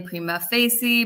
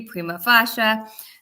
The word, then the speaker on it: prima facie: People pronounce it differently, prima facie, prima facie. Um it's all the same thing.